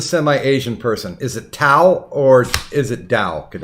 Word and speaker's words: Tao: yeah yeah and it's and it's Dow would you quit that's how it's pronounced oh the goddamn tea